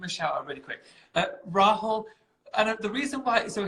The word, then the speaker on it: Rahul: At one point, he was calling him Rail. And I was like, his name's Rahul. It's so easy.